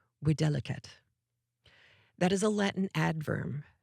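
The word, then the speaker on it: videlicet: Videliset, Vi Di T, or if you are going to pronounce it apparently correctly in Latin, widelet.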